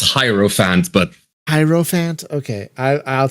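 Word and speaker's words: Hierophant: new class that's the hell is it called a hero Fant whatever the hell that is uh but it's great it's it's really delightful really fun it's supposedly pronounced hyro Fant but hant okay I I'll take your word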